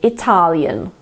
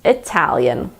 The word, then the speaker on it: Italian: an AH instead of ah so they say Italian but just remember that it's Italian some native speakers do say I tell you